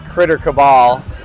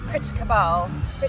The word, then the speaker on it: Critter Cabal: Well, I pronounce it Critter Cabal. It doesn't pronounce so well with a British accent. So, take his pronunciation. How do you No, but how do you Yeah. Critter Cabbal. But it sounds better if you say Critter Cabal.